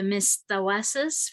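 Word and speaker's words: Mistawasis: We're in the, I'm gonna pronounce it wrong, I'm so sorry, Jeff, the Mistawasas First Nation.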